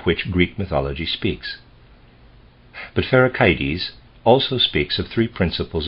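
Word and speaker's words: Pherecydes: would like to say I'm going to pronounce a word for rickety's that's how I was pronouncing it before I decided I want to pronounce it ferric ids and Sai Rosa's sy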